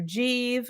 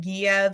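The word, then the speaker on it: Giev: fans of the character jeeve um that a lot of people pronounce it guiev because it's spelled g-i-e-v but it's like the proper pronunciation of the city Kiev in the Ukraine uh it's not Kiev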